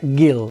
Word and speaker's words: Guile: Para pronunciarlo bien y en inglés sería guile. Hay gente que le dice guil, pero yo cuando era chico le decía gil y decidí simplemente llamarlo